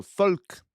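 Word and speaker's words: Volk: It's pronounced like an F. An F. So, folk.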